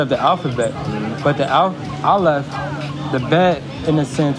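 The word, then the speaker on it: aleph: No, alf. It's alf. Yes, that's the order of the alphabet. But the alf the bed in a sense represents the containment of the alef.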